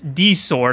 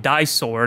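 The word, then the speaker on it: Di-Sword: uh her d sword yes it's d sword I've been calling it die sword I I I guess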